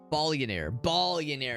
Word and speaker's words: Ballionaire: Ballionaire is how you pronounce it.